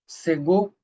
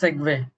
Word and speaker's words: segue: What is the right pronunciation? Seggo segue. Rena says see see. Oh my guys you guys are genius. It is segue uh segue into a new concept and something like that.